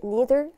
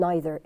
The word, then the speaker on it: neither: وهي بتتنطق neither أو neither. الاثنين صح. يعني British English neither, American English neither. Both are correct.